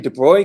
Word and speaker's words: de Broglie: And then Louis de Broglie came along.